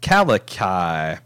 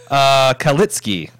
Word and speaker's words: Kalitsky: Michael Kalikai, pronounced, holy shit, that doesn't help. Kalitsky. Oh, Michael Kalitsky.